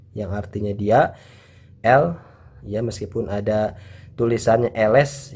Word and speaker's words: elle: Jadi tidak membaca ele, ya, tapi l yang artinya dia untuk perempuan.